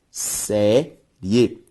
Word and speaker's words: série: Ao separar série, série. Ao separar bactéria, bactéria. Veja que a sílaba tônica dessas três palavras é sempre a penúltima, logo todas elas são palavras paroxítonas.